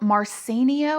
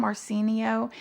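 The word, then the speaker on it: Marciano: 1993 a man named paul marcenio i think is how you say his name marcenio who was an executor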